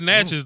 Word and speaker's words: Natchez: I mean, it's Natchez, though. It's Natchez, Mississippi. Coach Evans say pronounce it right, homeboy. It's because Coach Evans coached me back in Natchez. It's Natchez, but damn, that's wild though, man.